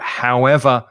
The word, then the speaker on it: however: In that case, we'll stress the second syllable. So however will you manage to pass the exam if you haven't studied, for example?